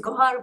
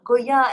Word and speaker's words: Gohar: First of all, the name that you pronounced Go the name is Gohar, but you said Goya is like my granddaughter.